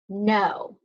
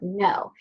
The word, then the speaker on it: know: They want us to, snap word, know. This is a word that I've seen before, and it's actually got the silent K at the beginning of the word know.